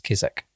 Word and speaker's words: Keswick: is a shop in Keswick, you run all the mountains. Sorry, Matt. I have to say this. It's Keswick. Oh. Yeah. Carry on. But it's spelled Keswick. Yeah, I know. But it's Keswick. Sorry.